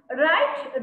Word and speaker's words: write: You should not pronounce W. Write. Okay. How you pronounce this word? Write. This also write. Okay. The spelling is different in both words. Okay. Here, R-I-G-H-T, write. It is W-R-I-T, write. But we should pronounce these two words like write.